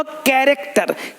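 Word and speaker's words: character: कैरेक्टर, का यहाँ भी CH भी का है, तो ये पढ़ते पढ़ते आएगा।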